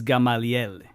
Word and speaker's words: Gamaliel: But my real name is Gamaliel, like Paul's teacher from the Sanhedrin, spelled the same way.